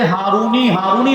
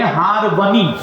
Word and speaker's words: ہارونی: ہو چکا ہے اور کثرت استعمال کی وجہ سے ہارونی لوگ بولنے لگ گئے، وہ بھی کوئی اس کو ناجائز تو نہیں کہہ سکتے، لیکن اصل جو تلفظ ہے وہ ہے ہارونی۔ کیا تلفظ ہے؟